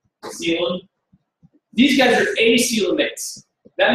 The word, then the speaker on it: coelom: It looks funny to spell it this way, coelom.